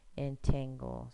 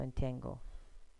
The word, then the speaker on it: entangle: So if we say it by syllable and the T stress on this one, so it'd be entangle. So entangle.